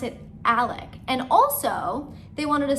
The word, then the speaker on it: Alex: through the video that i was saying the dad's name wrong i've done this before it's not my first time not my first rodeo his name is alec in my defense it is spelled alex but for whatever reason